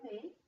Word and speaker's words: mets: In the present tense, je mets, the T and S are silent.